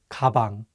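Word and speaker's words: 가방: down with the word kabang which means bag usually the consonant Gio sounds like an English G however if it's at the beginning of the word it takes on the English k sound kabang let's do another example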